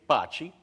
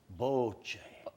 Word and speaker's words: bocce: a lot of America okay say Bochy which is understandable but the Italians pronounce it bochi bochi the Italians didn't know